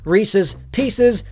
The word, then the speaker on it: Reese's Pieces: 4, and of course, Reese's Pieces, which are actually pronounced Reese's Pieces because the person's name is Reese and they are Reese's.